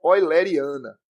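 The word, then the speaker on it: euleriana: fluido é conhecida como descrição oleriana que é como se pronuncia Essa é a chamada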